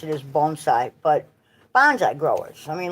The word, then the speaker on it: bonsai: look to well, it actually the way to pronounce it is bonsai, but bonsai growers.